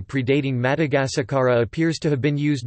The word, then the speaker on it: Madagasikara: In the Malagasy language, the island of Madagascar is called Madagasikara Malagasy pronunciation, Madagascar, and its people are referred to as Malagasy.